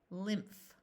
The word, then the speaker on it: lymph: a longer word Lin pH says F lymph nymph Mystic Crypt a